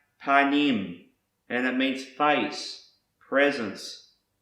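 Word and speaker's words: פָּנִים: word that starts with the letter P is pronounced panim and it means face presence front surface appearance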